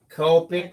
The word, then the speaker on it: Copic: what i'm talking about topic rhymes with topic copic rhymes with scoping so what's you know